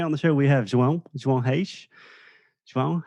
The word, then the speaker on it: João Reis: I'm great and so happy to hear you pronouncing so well my name. João Reis is definitely a challenge. It's a Portuguese challenge for any non-native.